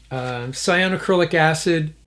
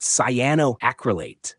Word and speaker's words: cyanoacrylate: I'm going to use cyanocrylic acid. It's pronounced cyanoacrylate.